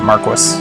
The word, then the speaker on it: Marquis: The order can help me rescue the Marquis. It must. By the way, I would have said Maris, but as I realized in Final Fantasy 12, they pronounce it Marquis.